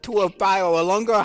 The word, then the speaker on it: Tua Tagovailoa: I'm not a big Tua Tagovailoa.